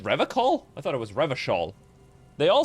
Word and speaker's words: Revachol: He pronounces Revacol with a hard K.